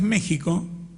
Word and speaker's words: México: Así como escribimos México con X y pronunciamos México, escribimos prójimo y deberíamos pronunciar próximo.